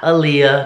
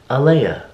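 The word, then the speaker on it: Alaïa: clearly her name is uh Leia Aleya not Aliya not Elena its alia Alia Marie oh so we didn't want the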